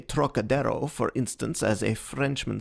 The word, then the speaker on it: Trocadero: That peculiar throaty aspirate the Frenchman gives to the first syllable, as though it were spelled Troc, is utterly beyond the Chinese, and beyond the American too, whose idea of the tonsillar aspirate leads him to speak of the trochidiro, naturally falling back upon